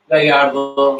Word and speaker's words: Gallardo: And that's another subcommittee, Commissioner Gallardo. Is that how you pronounce it, or Gallardo? Yeah, yes, just like the Lamborghini. Gallardo, Gallardo.